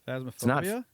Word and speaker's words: Phasmophobia: I can never pronounce it right. Phasmophobia. Fasmophobia, right?